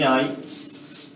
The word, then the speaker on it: hai: to have, avere, and you see that here a little nasty letter appears, but you do not pronounce it. You do not pronounce it. It's mute. It's always mute. Quanti anni hai?